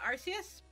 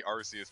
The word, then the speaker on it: Arceus: Arceus well no because he very specifically said it was supposed to be Arceus but if they changed it to Arceus because they didn't want european kids to laugh at this arse in the name now little to Tom